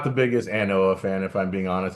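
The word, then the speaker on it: An Oa: Yeah, ANOA. Is that how you say it? Yeah, Anoa. Yeah.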